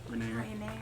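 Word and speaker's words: Renaer: I'm pretty sure it's Rainier. It's A-E-R, not E-A-R. So it doesn't make the ear sound. It would make the air Renair. sound. Rainier.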